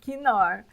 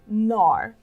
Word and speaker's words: Knorr: perguntar você vai pedir nor Ok porque como eu falei essa é a regra a gente não pronuncia a letra k quando ela começa né a primeira letra da palavra e ela vem antes